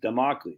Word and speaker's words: Damocles: a manipulated Man by Esther Villar so you spell it wrong freaking Carl jeez man remedial spelling e-s-t-h-e-r-v-i-l-a-r Carl spell the e-s-t-e-r-v-i-l-l-l-a-r democles Damocles there you go all right cool what'd I